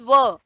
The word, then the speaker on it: were: R is silent, in a little bit silent mode.